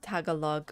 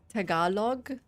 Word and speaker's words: Tagalog: Tagalog. Tagalog. You're right. The emphasis.